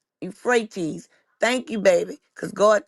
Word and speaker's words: Euphrates: Oh, it's pronounced you fre Oh, the Euphrates.